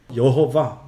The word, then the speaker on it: 여호와: 과 름 하느냐 이제 우리 성경에는 여호와 이렇게 번역을 했습니다 그런데 그 어떤 유대인 학자 에 의하며 여호 봐 라고 발음을 한다는 거예요 자 이게 3인칭단수 에요